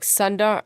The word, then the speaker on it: Sundar: The sun in Sundar is pronounced like the astral body like Sundar.